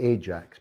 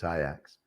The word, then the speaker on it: Ajax: she was born and brought up in amsterdam pronounce his name properly for me they'll always be ajax but she always corrects me and tells me it's iax and eric is is it 10 hug 10